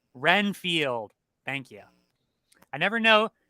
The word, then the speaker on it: Renfield: wall good evening good evening you're Dracula I'm reinfeld reinfeld isn't it reinfeld or reenfield Renfield Renfield thank you I never know would you ever